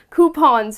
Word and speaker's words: coupon: we all love to receive or to have coupons right it saves money so it's not coupang